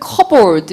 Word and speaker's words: cupboard: 찬장 (Cappboard) 에서 'p' 발음 은 묵음 입니다 .